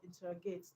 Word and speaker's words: interrogate: Just like in the word interrogate, the stress is on TER. Stress on TER, okay, not on IN.